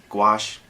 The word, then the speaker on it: Gouache: I'm Gouache, pronounced Gouache, like go wash really fast, or But anyway, be sure to subscribe, like the channel, and I'll be back soon.